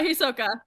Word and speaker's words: Hisoka: Yeah, Hisoka.